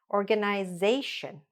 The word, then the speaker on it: organization: Organization.